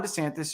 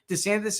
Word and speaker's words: DeSantis: nail their messages Ron DeSantis is struggling to nail his name in the early days of his campaign DeSantis has gone back and forth between pronouncing his name de santis and DeSantis why it matters desantis's